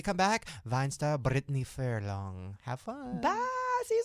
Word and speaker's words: Furlan: We're here with Brittany Furlan, right? That's how I say it.